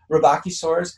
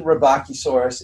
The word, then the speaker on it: Rebbachisaurus: pronounce the name uh robachi source recently has come under scrutiny in terms of how it was even meant to be pronounced and i haven't heard it with my ear but based on what i've seen robochisaurus is pretty close and that's what others have said as well so i'm rolling with